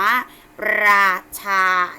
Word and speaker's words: ราชา: คะ เพราะ ว่า รอ เวลา เรา ออก เสียง เรา จะ ต้อง มี การ กระดก ลิ้น ขึ้น ไป นะ คะ อ่าน ว่า ราชา นะ คะ ทอ อาทาร